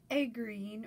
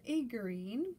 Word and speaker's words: aegirine: of ortho clays and egg green or aegerine that word is pronounced so many different ways um they are two